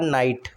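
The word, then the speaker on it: knight: इसके बाद नाइट। के साइलेंट होता है नाइट में। ठीक है? के नाइट। तो इसमें भी के साइलेंट है। राइट में डब्ल्यू साइलेंट है।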